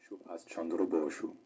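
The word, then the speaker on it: সুভাষ চন্দ্র বসু: So first in English, his name is pronounced Subhash Chandra Bose. Subhandra Bose. Subhash Chandra Bose. Subhash Chandra Bose. And in Bengali, it's called Subhash Chandra Bosu. Subhash Chandra Bosu.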